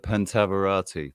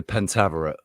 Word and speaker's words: Pentaverate: Has anybody seen the Pentaverati? There's the one they did one season or 2 seasons with Mike Myers. The Pentaverate.